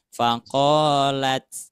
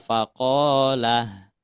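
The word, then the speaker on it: فقالت: Contoh misalkan ini faqolat. Nah, jangan dibaca faqolah.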